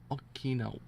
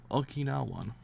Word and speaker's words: Okinawan: With an Okinawa. I never actually pronounced that word correctly. Okinawan.